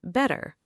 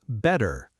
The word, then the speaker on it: better: Another example is better. In relaxed American pronunciation, it can sound closer to better.